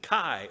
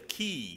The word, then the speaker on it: chi: And the next letter would be the chi or the chi, depending on how you would pronounce that Greek letter. It looks like our X, but it has that k sound.